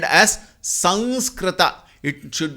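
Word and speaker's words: संस्कृत: It is not wrong if we spell it as Sanskrita or Samskrita. Sanskrita is technically correct. Samskrita is generally acceptable. I will not say correct or I will not say wrong. I will call it as generally acceptable.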